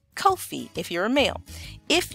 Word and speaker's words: Kofi: being Friday then your name would be Kofi Kofi Kofi if you're a male if you are a